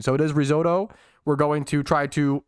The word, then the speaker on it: risotto: just say the word about pronouncing this with the typical Italian pronunciation stop like the Italians